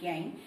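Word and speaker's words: gangue: z a and g gang though the spelling for gang is g a and g u e so u and e is a silent letter and then now there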